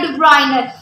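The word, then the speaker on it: Döbereiner: डुबर्नियर भी कह देते हैं डुब्राइनर, जो लफ्ज़ करेक्ट है जिसकी प्रोनाउंसिएशन डुब्राइनर है। ठीक है, डुब्राइनर है।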